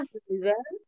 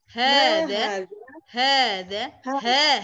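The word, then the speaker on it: هذا: Jadi dibiasakan hanya bacanya agak panjang dikit, ada mat tobi'inya. Soalnya nanti pengaruh ke baca Quran juga, ya kan? Kalau kita biasanya hada gitu, ya kan? Nanti di baca Qurannya juga kebiasaan hada, ya.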